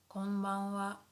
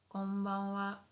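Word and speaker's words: こんばんは: Good evening would be konbanwa, konbanwa, konbanwa. So although here, this is hiragana ha, but sometimes we pronounce it as wa, wa.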